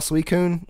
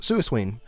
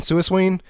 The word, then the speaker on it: Suicune: you have right like I still call suicune from Pokemon sometimes suing just because that's how pronounced when I was like 11 whatever gold and silver